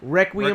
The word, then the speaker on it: Requiem: Reckoning Dream? Requiem, Requiem.